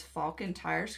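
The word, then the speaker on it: Falken: thank you for the donation wow Josh actually pronounces Falcon Tires correct thing God thanks Josh other YouTubers and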